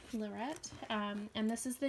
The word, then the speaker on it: Lorette: it is the Lorette I think it's pronounced Lorette not Loretta Lorette um and this is